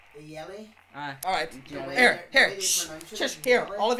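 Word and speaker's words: Jelle: But it's actually pronounced Yelly.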